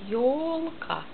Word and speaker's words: Ёлка: Jo beginnt Buchstabe Jo, wie Sie sehen, das J mit O, Ёлка. J mit O. Am Anfang des Wortes Buchstabe O. Ёлка. Betonung auf erste Silbe.